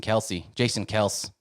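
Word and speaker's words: Kelce: Yeah, and speaking about Big Show, I just want to give a shout out to Jason Kels, whoever you want to pronounce it. They say Kels. Everyone says Kelsey, but he retired from the Eagles.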